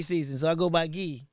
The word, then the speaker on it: Guy: so I go by ghee G oh yeah yeah I do the French pronunciation okay so wait so